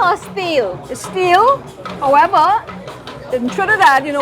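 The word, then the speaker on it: Stihl: plagued me is it still or steal steel however that you know everybody says so because of that we say still but the correct pronunciation is steel so we have it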